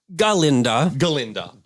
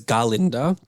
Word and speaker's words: Galinda: Galinda. Who becomes Glinda. There's a reason why we say her name as Galinda. Okay. And why she decides to be like, it's just Glinda.